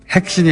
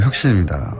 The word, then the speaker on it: 혁신: 핵신이 아니고 혁신입니다. 네. 간세청이 아니라 관세청입니다. 이런 문자 많이 왔습니다. 경상도 분들이 원래 복모음은 발음이 잘 안 됩니다.